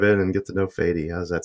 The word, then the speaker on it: Fady: Both pronunciations work, honestly. It's just whatever is easier for you guys. But yeah. Fady. Usually it's a Middle Eastern name. Mm-hmm. So yeah, the pronunciation I'm used to is Fady.